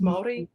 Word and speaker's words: Māori: Now, if I've got Scottish, like a bit of Scottish, it's Māori, so it's pronounced Māori, and native New Zealand, and then Aussie convict.